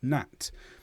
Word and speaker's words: gnat: is silent at the where the G is silent at the start of words, and you just have the N. So gnome, gnat, and also KN.